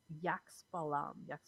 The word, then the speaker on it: Xbalanque: The title of the episode refers to and they pronounce it Yaxbalam, who, along with his